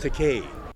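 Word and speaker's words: Takei: get crazy and shockingly famous oh my George takai it's pronounced teay if you don't know him from Star Trek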